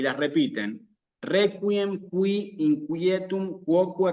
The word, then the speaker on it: quoque: Quoque.